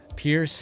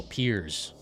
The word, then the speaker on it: Piers: Pierce had potential in RE6. Oh, Piers.